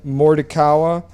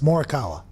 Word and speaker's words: Morikawa: Congrats to Marty Fish and Colin Mordikawa for winning their respected golf tournaments this weekend. I mean, that's not how you pronounce it.